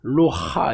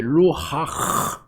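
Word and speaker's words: רוח: 루하 이 하나님의 성령을 여러 가지로 번역을 했는데 불이나 기름이나 바람이나 이런 걸로 이 상징적인 게 그거거든요. 그래서 이게 루하 이게 후음이에요. 발음. 루하, 이게 발음 어렵네요.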